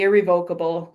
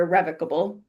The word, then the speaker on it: irrevocable: But this is also where the irrevocable or irrevocable depends on who you talk to, how they say it.